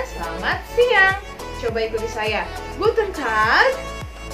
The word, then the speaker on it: Guten Tag: Lalu yang selanjutnya ada Guten Tag. Ya, artinya selamat siang. Coba ikuti saya. Guten Tag. Good. Jadi huruf A-nya itu agak panjang ya.